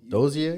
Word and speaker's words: Dozier: Dozier? Yeah. No, Dozier. That's how you say his name.